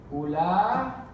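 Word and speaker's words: أولئك: We say the alif, but we don't write it, okay? Ulaika.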